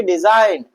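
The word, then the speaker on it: design: हम क्या पढ़ेंगे, डिजाइन। क्या पढ़ेंगे, साइन। और क्या पढ़ेंगे भैया, फॉरेन। क्या पढ़ेंगे, फॉरेन। तो ऐसी जगह पर हम जी का प्रोनाउंसिएशन नहीं करते हैं।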